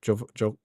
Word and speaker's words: Jovovich: Um the Seven Deadly Sins stuff, Hitman World of Assassin Assassination adding uh Mila, how do you say pronounce name? Jovovich Jovovich.